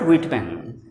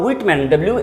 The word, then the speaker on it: Whitman: Now about Whitman, his second name Whitman. The pronunciation here is H to be silent. It is not Whitman, it is Whitman.